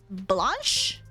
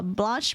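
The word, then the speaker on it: blanche: Uh, blanch means white in French. Blanc is white. E is silent in French.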